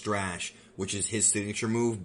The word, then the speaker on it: Strash: is his sort of, and yes, it is pronounced Strash, which is his signature move, but it takes time to learn that one, obviously, from this guy.